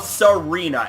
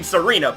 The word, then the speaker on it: Tsareena: No pun intended, because, you know, you don't pronounce the T in the name Tsareena. But anyways, ladies and gentlemen, I just gotta say, shiny Tsareena is a Pokemon that